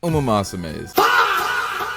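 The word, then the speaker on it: ウマ娘: I did not know that I was pronouncing Uma Musume wrong. Uma Musume.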